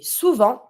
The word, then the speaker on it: souvent: Often we say souvent. Careful, we don't pronounce the T.